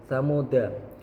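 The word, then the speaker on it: ثَمُودَا: Yang pertanya itu lafaz tsamuda. Jika wasal maka huruf dal dibaca pendek dan jika waqaf maka huruf dalnya dibaca sukun.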